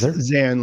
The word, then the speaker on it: Xan: his name cara's yes zan like alexander yeah yeah zan is